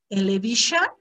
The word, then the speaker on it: television: A ver, television, television, television, television, television. El estrés va en la primera, vas a pronunciar más fuerte.